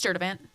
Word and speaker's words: Sturtevant: maiden name super long nobody knows how to pronounce it what is it it's it's stur event same one on do mean on Facebook yeah